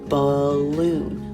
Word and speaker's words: balloon: this one is balloon balloon the stress is more on the second syllable right balloon balloon our